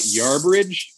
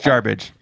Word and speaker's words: Jarbidge: heard Zach call it Yarbridge. Yes. Did I put the R in there? Oh, my bad. I've heard about 6 different pronunciations of Jarbidge. There's no bridge. It's not garbage. Yeah. It's Jarbidge. Jarbidge.